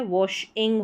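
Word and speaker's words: washing: फिर यहाँ पर है डब्ल्यू ए को वॉ करके पढ़ते हैं, डब्ल्यू ए के कॉम्बिनेशन को वॉ और एस एच को श, तो वॉश के बाद आईएनजी है, वॉशिंग हो गया, आईएनजी को इंग करके प्रोनाउंस करेंगे तो वॉशिंग हो गया।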